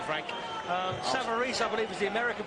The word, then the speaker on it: Savarese: The Italians behind us are pronouncing it Savarese, and that'll do for me, Frank. Savarese, I believe, is the American pronunciation, but we won't worry about that.